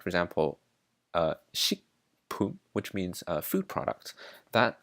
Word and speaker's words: 식품: There are things like, for example, “식품” (sik-pum), which means “food product”, that, when you pronounce it as a word, it becomes “sing-pum”, just because it’s easier to pronounce.